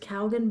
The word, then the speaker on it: Calgon: slogan used in commercials for i think it's pronounced calgon bath and beauty products uh and it reached